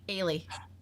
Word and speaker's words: Eilidh: It sounds like Ailish, but I don't know what Ailish is in English. Is it? It's spelled, I'll tell you the spelling, Eilidh. Ailey.